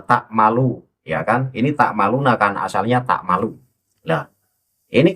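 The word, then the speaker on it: تعملون: Wakallahu bima tammaluna basiro itu dibaca wakallahu bima bima ymaluna basiro itu dibacanya semacam itu. Nah, kenapa tak maluna kemudian tidak boleh dibaca ya maluna?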